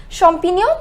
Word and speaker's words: champignon: onions and some mushrooms champignon which means mushrooms now one more time just remember the pronunciation of gns no it is no one more time